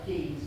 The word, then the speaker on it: Keynes: I know it's spelled Keynes, K-E-Y-N-E-S, but here in the village, we prefer to pronounce it Keynes.